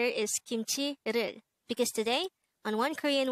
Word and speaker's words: 김치: hangout word number 273 kimchi kimchi this is pronounced as a two-syllable word the first syllable is kim second syllable is chi pronounce it with me kimchi kimchi the word kimchi is probably one among